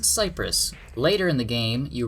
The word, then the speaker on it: Cyprus: liked them oh and i mispronounced tsipras it's pronounced cyprus later in the game you rescue miller it's